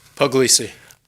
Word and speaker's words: Puglisi: Puglisi? Puglisi. I've mispronounced your name for years.